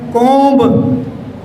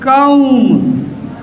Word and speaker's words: comb: But here, again there is OMB. We pronounce it as comb. Again ba is there, but this is not pronounced. So this is comb, comb, comb, ow, ow.